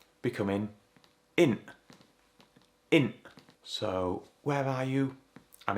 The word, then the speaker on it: in't: Notice again, we don't pronounce that t. It's not int.